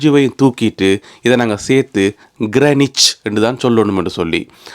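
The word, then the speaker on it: Greenwich: இப்ப திடீரென்று இங்க வந்து அது கிரீன்விச் கிடையாது கிரனிச் என்னும்போது அதுல ரெண்டு எழுத்தை உச்சரிக்கவே கூடாதுன்னு சொல்லும்போது துன்பம் ஆரம்பிச்சது அப்படியே பார்த்தா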